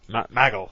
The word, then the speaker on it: Michael: Maggle. Yeah. Maggle. Alright. That's the way JBL pronounces Michael, Maggle.